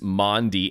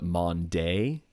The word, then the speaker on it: Maundy: What is Maundy? And she did spell it right, because it's typically pronounced wrong. A lot of people want to call it Monday. It is not Monday.